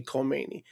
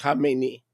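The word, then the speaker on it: Khamenei: and by the way, people can't pronounce it. They say Kmeni. That's not Kmeni. Kmeni is the guy that he succeeded. Okay? It's Hamemeni. They Americans see a K and they go Kmeni. That's not Kmeni.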